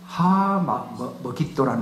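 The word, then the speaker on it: 므깃도: 이걸 헬라 말로 옮길 때 먹잇도라는 말을 발음을 그렇게 못하기 때문에 아마겟돈 이렇게 해버립니다.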